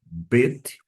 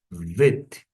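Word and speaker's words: ב: Desta forma, eu pronuncio bet quando tem um dages, vet quando está sem o dagês.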